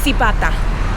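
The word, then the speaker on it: Zibatá: or something like that it's Zibita that's how you say it yeah all right guys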